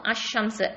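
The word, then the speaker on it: الشمس: இப்போது அஷம்ஸ், அல் ஷம்ஸ்ன்னு சொல்ல மாட்டோம், அஷம்ஸ்ன்னு சொல்லுவோம்.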